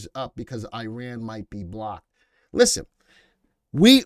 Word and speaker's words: Iran: So everybody says it's not Iran, it's Iran. Listen, it's the way it looks. I call it as I see it. But if the proper pronunciation is Iran, I'll call it Iran.